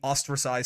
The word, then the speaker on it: ostracized: It is literally pronounced like the first part of ostracized is pronounced like the first part of Australia.